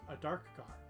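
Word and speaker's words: Adarkar: So, there is a correct pronunciation. And it is a dark car. Like a dark car.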